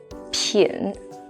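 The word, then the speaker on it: 品: character shaiga hanzo hansen yo this one is pronounced as pin if you think of the cold in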